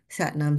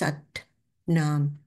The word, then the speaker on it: Sat Nam: And of course, the pronunciation. It's not words that are just, you know, put together lazily. Satnam, Satnam, Satnam, Satnam. Look at the difference. Satnam.